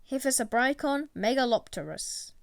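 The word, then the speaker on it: Hyphessobrycon megalopterus: phantom tetra scientific name hypha brycon megalopterus pronunciation hephaesa brycon megalopterus size to 3.6 centimeters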